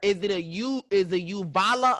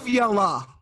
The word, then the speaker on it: uvula: But is it a uvala or uvula? It's uvula. Uvula? Yes, uvula. Okay, we're gonna have to motherfucking ask Siri.